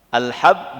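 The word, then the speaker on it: حب: Kalau kita bacanya salah nanti salah arti. Alhab biji. Kalau khub cinta. Ah. Ya, alhabi. Kalau hub cinta.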